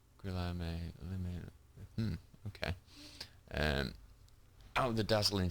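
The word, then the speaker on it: Guillaume Le Million: Guillaume Lamillia. If it doesn't rhyme, you're not pronouncing it right. Guillaume Lamillia.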